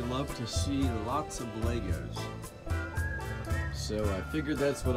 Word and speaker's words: Lego: to see lots of Legos so I figured that's what I'd show you lots of Legos for Lego and that's properly pronounced it's funner to say Legos though so we'll just go